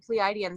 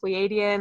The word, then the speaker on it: Pleiadian: I was Pleiadian for I call it Pleiadian. That's what they tell me to pronounce it. That it's not Pleiadian. They just say Pleiadian.